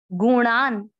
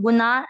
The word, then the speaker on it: गुणान: पहले चरण में देखा है प्रकृति पढ़ना है, जान जा पूरा न आधा जान, गुणान अण अण का उच्चारण न जैसा नहीं करना, कहीं लोग गुना ऐसे पढ़ते, गुणान।